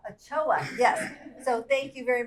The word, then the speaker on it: Ochoa: Ochoa.